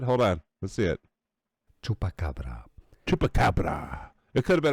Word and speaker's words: chupacabra: Tupacara. How is it how do you say it? Hold on. Let's see it. Chupacabra.